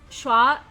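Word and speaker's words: Xue: It's not Chu, it's Shua Bao Chai. I think it was Shua.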